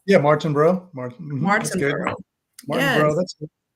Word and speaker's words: Martinbrough: please welcome Sean martinb is that how it's pronounced yeah Martin bro mar mar Martin bro that's yeah sometimes you